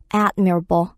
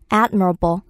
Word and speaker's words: admirable: 이런 말을 갖고 있죠음 admire 동사는 이음절 강세가 있었는데요 이게 형용사로 바뀌면서 음절로 강세가 변화합니다 그래서 admirable admirable a d m i r a b l admirable 하면 존경스러운 감탄스러운 이름의 강세가 들어가게 돼요 이런 것도 그냥 무조건